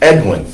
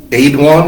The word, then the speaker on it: Edwin: Now his name is, we pronounce it Edwin, E-W-I-N, basically because we can't pronounce any other of the names that he's called. There's also an E-A-D-W-I-N, Aidwan, I guess. And then there is the traditional Frankish Northumbrian name, A-E-D-U-I-N-U-S, Aidwinus.